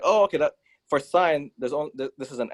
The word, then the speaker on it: sine: sine whatever yeah sine it's sine okay i know but it's spelled like sin i know i know